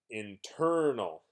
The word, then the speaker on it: internal: and let's pronounce this internal internal so if I exaggerate a little bit you can hear stress on the second syllable internal let's look in